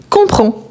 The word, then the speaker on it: comprends: On ne le prononce ni le S ni le D, mais on les écrit.